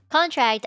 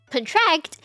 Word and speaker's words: contract: So like the word contract, that sounds like a noun because you emphasize the first syllable. And you think of contract as like a document, right? But if you say contract, you emphasize the second syllable, and that means, you know, like contractions, like your body is contracting.